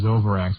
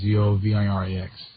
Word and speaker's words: Zovirax: Okay, and the poor man likes to call it Zovrax, which is the trade name, Zovirax.